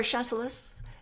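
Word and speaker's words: Chasselas: there's a wine called I want to say chasela maybe you know is that right I wouldn't dare correct your pronunciation after all we've been through even for wine terms yes chasela or chelus but it is the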